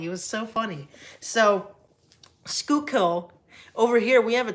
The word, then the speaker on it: Schuylkill: And I'm like, what's Schuylkill? It's Schuylkill. I'm like, you pronounced it Schuylkill.